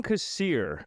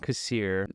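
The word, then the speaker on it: Kassir: So it's John Casir. That's how you say it. John Casier.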